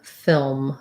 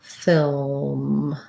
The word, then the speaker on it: film: english um we just this is a one syllable word with the um vowel um film film um and we do do the l and the m i was thinking phil